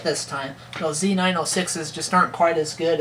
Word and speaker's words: Z906: which i said it right this time though z906s just aren't quite as good as like my